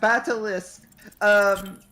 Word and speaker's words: Batalisk: Batalisk. You gave me a pronunciation guide, and in my head, it still wanted to say Batalisk.